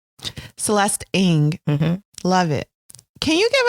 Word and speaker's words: Ng: you for that awesome Celeste how do you pronounce her last name Celeste Eng love it can you give us a brief